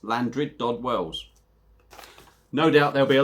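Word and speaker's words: Llandrindod Wells: Apparently it's pronounced Llandryd Dod Wells.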